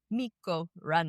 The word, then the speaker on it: Mikko Rantanen: Mikko Rantanen.